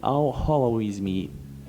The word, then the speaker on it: al-Khwarizmi: método de completar quadrados criado pelo matemático Abbe al-Khwarizmi. É assim se pronuncia?